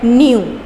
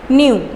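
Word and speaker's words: knew: नो की second form है न्यू, के साइलेंट है, न्यू।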